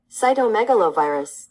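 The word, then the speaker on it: cytomegalovirus: be cyto Megalo virus let's see how it is pronounced Cy Megalo virus cyto Megalo virus okay so that's how you say it and it is um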